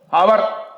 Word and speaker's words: hour: HOUR அவர், அது மணி, ஆனால் அதை OUR என்று தான் உச்சரிக்கிறோம். அதே மாதிரி OUR அவர் என்பதையும் அப்படித்தான் உச்சரிப்போம்.